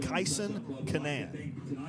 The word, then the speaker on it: Kayson Kanaan: And I'll go ahead and name him because it is the pronunciation does not match the look of it. Kayson Kanaan.